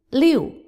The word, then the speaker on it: 六: 六 Fourth tone.